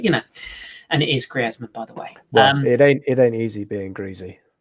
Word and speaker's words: Griezmann: the same reason that everybody gets anton griezmann's name wrong which also triggers me but you know and it is griezmann by the way it ain't very good um